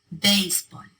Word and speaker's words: béisbol: All 4 of those words end in a consonant other than N or S. They should be pronounced with the stress on the last syllable, but they're not.